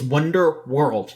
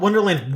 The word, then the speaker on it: Wonderworld: I was like no, it's Wonderworld, not Wonderland, Wonderworld.